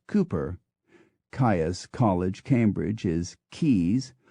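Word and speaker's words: Cowper: becomes Woodhouse the poet William cper becomes Cooper kaai College Cambridge is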